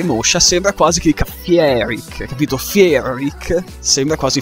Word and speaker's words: Fierik: Ma essendo che io non riesco a pronunciarlo, Fiero Rick, a causa della R moscia, sembra quasi che dica Fieric, capito?